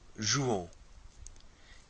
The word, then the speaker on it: jouons: So to say we play, we say nous jouons, O-N-S, so that O-N-S is pronounced on, nous jouons.